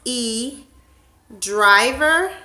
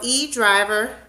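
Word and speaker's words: E Dryver: pronounce the name, but I think it is pronounced E Driver. That's D-R-Y-V-E-R. So E Driver.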